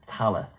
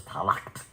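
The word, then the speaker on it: Tallaght: in ireland and they were all buried in tala and which was mispronounced by the earth the americans as talaq because it's spelled t-a-l-l-a-g-h-t and they large and i i lived in tallah and uh for a while and this literally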